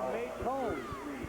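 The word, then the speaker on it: Maton: also at Shelbyville, and the Rams people say Matt, M-A-T-O-N, pronounces his name Maytone. That's what the coaches told me. Well, okay, that's not what Adams is doing. What is he calling him? Maytone.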